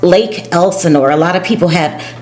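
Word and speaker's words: Lake Elsinore: And Lake Elsenor is right outside in the middle between Los Angeles and San Diego County, and it's pronounced Lake Elsenor.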